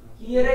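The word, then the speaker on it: ihre: है तो बोलना ही नहीं, ईरे किंडर, ईरे किंडर। एक साइलेंट रहता है, ईरे किंडर, ओके।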